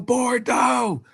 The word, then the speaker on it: Bordeaux: forgot the name of this part of France bordo is that how you say it I forgot the name of inde for instance in Bordeaux thank you Bordeaux all right for instance in bordo France 45